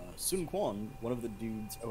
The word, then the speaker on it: Sun Quan: For the record, I was reading this thing about how Sun Quan, one of the dudes, oh, and I believe that's pronounced like Sun Chan or something like that, but whatever.